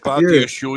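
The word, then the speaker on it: Badiashile: Yeah, Badia Shield is the right African name.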